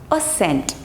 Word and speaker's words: ascent: but scissors scissors scissors next is not accent it's ascent ascent ascent okay look at this